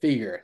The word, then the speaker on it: Feger: It says the way you pronounce Baker. Feger. There you go.